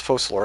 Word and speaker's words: Focalors: That's what it is, Focalor. It's not like a C, it's like an S, right?